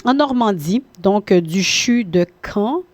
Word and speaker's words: Caen: Donc, c'est un jeune médecin, une jeune femme, une jeune généraliste en Normandie, donc du CHU de Caen. C-A-E-N, c'est comme ça, paraît-il qu'on le prononce.